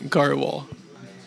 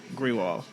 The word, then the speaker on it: Grewal: garal gal yeah clearly I wasn't any good at pronouncing his last name and it wouldn't be so bad if I hadn't known him going on 10 years I've been pronouncing it wrong all these years what you been saying GRE wall yeah that's pretty much what everyone says they also say gr Wal